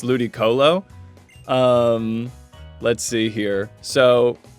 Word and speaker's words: Ludicolo: pronunciation of mine but I would say ludiculo as opposed I think it's Ludic Colo.